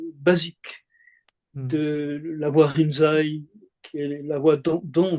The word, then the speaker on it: Rinzai: C'est-à-dire Lincy, c'est le nom chinois, Rinzai, c'est la prononciation japonaise d'un courant.